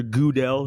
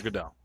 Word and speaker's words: Goodell: Like, anytime that he's brought up, no one says Roger Goodell. Everyone says Roger Goodell.